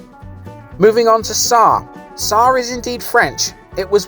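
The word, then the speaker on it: Sarre: island is depicted moving on to tsar sar is indeed french it was once spelt sir and as i alluded to in the beginning of the video in the captions it is indeed pronounced sar ecclesiastically the parish joined sent nicholas when the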